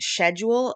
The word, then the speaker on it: schedule: oh with tacos um schedule uh but did you see how I originally went shedu uh schedule schedule but pasta bagel bagel bagel